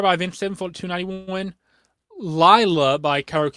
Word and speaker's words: Lila: Lila by Karaoke, because that's how he pronounces it in the song. Not Layla, but he says Lila in the song.